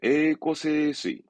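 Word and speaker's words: 栄枯盛衰: 에이꼬세스이.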